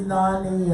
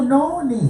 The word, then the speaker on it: noni: But Where is Nani at? no, it's not a country. It's a fruit. This is it's actually. Oh, Noni.